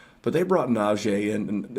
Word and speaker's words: Najee: a blank on his name but they brought najee and it's actually pronounced naji i have learned that as well they brought